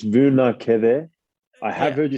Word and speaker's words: Vunakece: name correctly so hello veneku oh you're not the first and you won't be the last to accidentally make a mistake of my surname it's vu na keve i have heard you